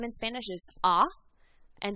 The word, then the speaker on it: a: name in spanish is ah and the letter a is pronounced ah like in father and the a in